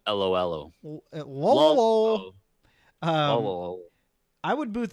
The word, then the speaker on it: Lolo: adventures well adventures of lolo at least is playable this i know because that's how you're saying it wrong it's adventures of LOL oh whoa oh i would